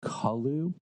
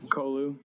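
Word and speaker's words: Colu: Yeah, I've always pronounced it Kolu. I don't know, maybe because my last name's Cole and it's Cole, so it's just an U instead of an E.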